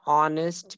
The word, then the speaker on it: honest: Before silent H, we also use an with the words where H is silent. An honest man, an R, an honorable person.